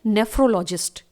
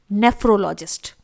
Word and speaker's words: NEPHROLOGIST: Kidney के doctor को medical language में इंग्लिश में बोला जाता है नेफ्रोलॉजिस्ट। स्पेलिंग देखिए, NEPHROLOGIST। इट इज नेफ्रोलॉजिस्ट।